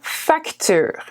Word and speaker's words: facture: Here we say la facture. La facture. Facture. La facture. Okay, the E at the end again is not pronounced very much.